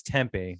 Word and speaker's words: tempeh: And it's spelled like a little, oh no, it's tempeh.